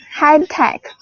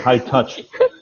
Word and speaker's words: high tech: High tech. Yeah, good. That's it. High tech. Earlier you said high touch, and so you meant high tech.